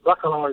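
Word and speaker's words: Bacalar: I'm not sure how I pronounce it, but is it Bacala? The Bacala? The Bentley, the new Mulliner collection? Yeah, hi. Yes, Bacala is the right way to pronounce it, and absolutely, yes, you get that spot on.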